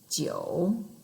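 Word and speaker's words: 九: three our third tone you should start very very low like it will help if you lean your chin back a little bit and number nine that's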